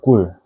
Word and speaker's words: 꿀: It sounds like 꿀, which means honey, and 까마귀, which means crow or raven. 까마귀 and 꿀.